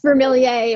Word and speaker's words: Vermilyea: do you pronounce it it's vermilie or as i like to say vermill throw your hands up me or say yay and that is how it's done i love that vermilie